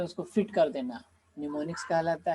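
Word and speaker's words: mnemonics: ठीक है, am silent है, निमोनिक्स।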